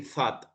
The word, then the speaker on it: thought: Es como, comienza con una T, ¿verdad? Pero no se dice thought, sino que es como que ponemos la lengua entre los dientes y le hacemos thought, thought.